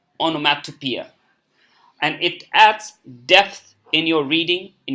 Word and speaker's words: onomatopoeia: we pronounce it appear onomatopoeia okay so it's long e onomatopoeia okay so it is